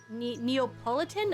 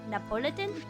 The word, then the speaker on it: Neapolitan: Her name was mainly from the word Neapolitan, and apparently I didn't even know how to pronounce it. I was calling it Napolitan.